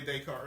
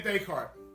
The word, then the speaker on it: Descartes: Now, I was talking about Rene Descartes earlier. I'll do it again. Rene Descartes, the father of rationalism, says, now, if you're Googling Rene Descartes, it looks like it's spelled Descartes, okay?